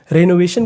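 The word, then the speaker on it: renovation: यहाँ पर लिखा है TION, और TION को हम लोग पढ़ते हैं शन, यानी आपको इंग्लिश में कहीं पर TION लिखा मिले तो उसका उच्चारण हमें करना है शन।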